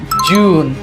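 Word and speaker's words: June: দিবেন দিয়ে তারপরে ন প্রনান্সিয়েশন করবেন সেটা হচ্ছে জুন।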